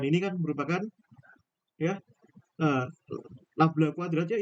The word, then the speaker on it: nabla: Seper V kuadrat dc d dt ya, di mana Laplacian ini kan merupakan ya uh, nabla kuadratnya, ini bacanya nabla ya.